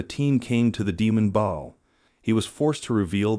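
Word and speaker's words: Baal: So Father Rossetti continued and ordered Ba'al to leave, and he pronounced his name with two syllables. But to his surprise, the demon firmly corrected him. It is Ba'al and pronounce it with one syllable.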